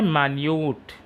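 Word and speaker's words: minute: Next है मान्यूट, मिनट, मान्यूट। जरा अब यहाँ पर देखिए, स्पेलिंग सेम है लेकिन इसका प्रोनाउंसिएशन अलग हो जाएगा।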